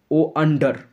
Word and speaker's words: wonder: এর মানে প্রথমটা WANDER, এর উচ্চারণটা ওন্ডার, আর দ্বিতীয়টা উচ্চারণ আন্ডার, আন্ডার।